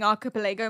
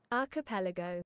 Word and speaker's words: archipelago: I've been confidently saying archipilago my entire life.